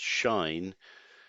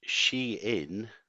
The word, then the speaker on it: Shein: their straps I guess if it had been a German company it would have been pronounced shine but she in the Chinese founded fashion